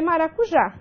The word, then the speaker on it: maracujá: E a última palavra é maracujá. Maracujá nós temos uma oxítona, e essa oxítona ela termina em A. Então, veja, última sílaba tônica, terminada em A, ela será acentuada graficamente.